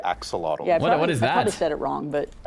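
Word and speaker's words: axolotl: We're all going to learn how to say axelottle.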